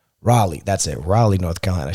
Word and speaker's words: Raleigh: Raleigh, that's it.